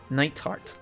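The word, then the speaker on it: Nighthart: it's t like a you just you don't pronounce the th it's knight heart good morning uh major knight heart instructor valestine of thor's military academy homeroom teacher for class 7.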